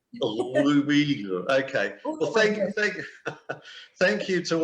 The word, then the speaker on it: Uyghur: Now, I must ask you how we've been saying Uyghur, but you seem to pronounce it a little bit differently. How do you say it? Uyghur. Okay, I'll just say Uyghur.